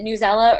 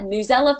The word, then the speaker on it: Newsela: bit of a debate is it newsela or news ela because teachers pronounce it both ways and at newsela folks confirmed to me that it is newsela so I thought I'd